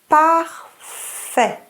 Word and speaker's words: parfait: Parfait. The T is silent.